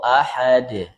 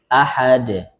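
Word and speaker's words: أحد: Nah, yang menjadi catatan saat qalqalah di sini ada jangan sampai atau jangan dibiasakan mengucapkan qalqalah itu seperti hamzah di akhir. Misalnya ee fil haj je dibacanya fil hajj. Qul huwallahu ahad. Ahad bukan ahad.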